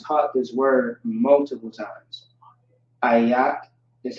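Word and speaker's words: אֵיךְ: Ayak is how you pronounce that.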